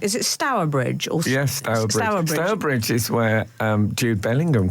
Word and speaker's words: Stourbridge: Or Yes, Stourbridge.